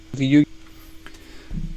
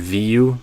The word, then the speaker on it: video: it, I would do, the full version would be video, or video. And then there might be reductions from there, but I would make sure you can do the 3-syllable version to start in a clear way.